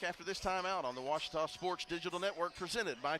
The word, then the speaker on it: Ouachita: searching for Baptist University back in Texas everybody pronounces it Witchita but really it's was was how would you pronounce it it's was